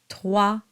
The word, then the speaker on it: trois: Rencontrer trois capitaines. Trois has a W sound to it, and you go straight to the A sound.